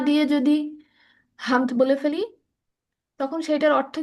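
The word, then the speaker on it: حمد: মাশাআল্লাহ রাজুয়া, তোমার উচ্চারণ সুন্দর। ঠিক আছে। আহ তুমি যেটা বলছিলাম, এখানে আলহামদু, হামদু, হামদ, হামদ, হামদুন, এখানে যে হাটা ব্যবহার করা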